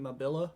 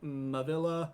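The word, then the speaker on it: Mabila: to the village uh it's pronounced various ways i saw online but i'm gonna go with the pronunciation mabilla however i've seen mavilla like a mould villa i've seen various pronunciations now when the spanish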